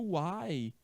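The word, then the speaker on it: why: é uai observa só a pessoa uai a pronúncia é essa é a pronúncia parece olha só a pronúncia parece com aquela expressão mineira uai sô Pois é esse é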